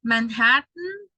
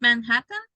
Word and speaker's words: Manhattan: Or Manhattan. Is that Manhattan? Manhattan. So it's like if you eliminate the last syllable and you only produce or pronounce the letter T.